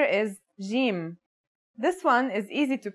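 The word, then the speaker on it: جيم: our first letter is Jim this one is easy to pronounce it's somewhere between a g and a j depending on the accent for example Standard Arabic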